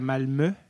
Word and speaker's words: Malmö: Il était dans le sud, à Malmö, que ça se prononce, même ça s'écrit Malmö.